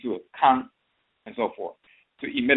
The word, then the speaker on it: kan: With the nasal A, it's Kan. Instead of Ka, it's Kan.